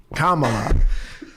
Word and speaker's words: Kamala: Just combine comma shut up. with la. And Kamala.